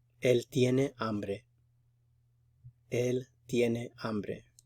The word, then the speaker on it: hambre: Él tiene hambre. Remember, the H is silent.